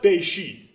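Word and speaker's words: べし: But it's pronounced Beishi, if you're wondering.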